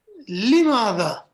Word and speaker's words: لماذا: To the word ماذا, there's an addition, and that is with this lam, and it's pronounced لماذا, and لماذا means why.